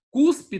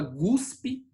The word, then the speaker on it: cuspe: Cuspe, tem gente que fala guspe, né?